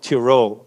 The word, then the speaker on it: Tyrol: a part of austria is called tyrol it is if you want to google it you will find it under t-y-r-o-l in german it's it's with an eye um and that region